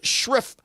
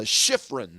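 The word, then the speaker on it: Shiffrin: Uh Michaela Shriff uh Shiffron is how you pronounce her last name.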